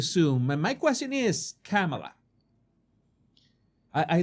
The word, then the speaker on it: Kamala: I apologize that sometimes I mispronounce her name because in Spanish, in Espanol, we say Kamala. Kamala. That's how we say it in Spanish. We stress the middle syllable.